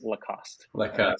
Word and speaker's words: Lacoste: So when I'm with them, it certainly is Lacoste. But for an English audience, it is Lacoste, classic alligator shirt.